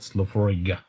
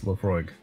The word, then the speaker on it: Laphroaig: just pure awesome laphroaig are you supposed to say the g i thought the g was silent not slophoriga i mean that's how